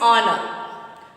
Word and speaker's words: honor: You are thinking that this the first letter is H, no? So that is H is a consonant, but that is not.